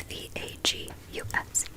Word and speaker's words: vagus: he put it like right here on my vagus nerve, and he told me about the vagus nerve. It is not spelled like Las Vegas. I thought that for the longest time. It's V-A-G-U-S.